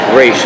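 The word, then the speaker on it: Ra's: it was a way to insult Raish by calling him Raz, because it's the mispronunciation, kind of an insult to him. But when you are the man or you're in the league, you say Raish Al Ghul.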